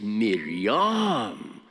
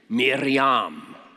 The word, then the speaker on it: Miriam: And the Hebrew name is Miriam. Miriam. Say it with me. I teach you Hebrew. Miriam. That's not good enough. Let's try again. See if you can roll your R's a little bit. Miriam.